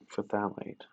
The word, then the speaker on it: phthalate: Potassium, hydrogen, hydrogen, hydrogen, phthalate.